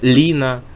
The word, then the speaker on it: Лина: То есть это «лина», прежде всего, вот из таких ярких примеров, да, то есть ударение на первый слог.